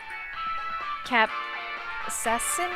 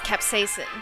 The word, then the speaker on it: capsaicin: Capsaicin? It is! C18H27NO3. How do you pronounce this? Oh, it's capsaicin.